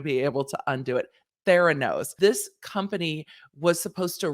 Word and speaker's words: Theranos: elizabeth holmes's company theranose now i always want to say thoranos i know that's not how you say it i feel like it's like thanos but no thoran no i would just say it wrong now see i i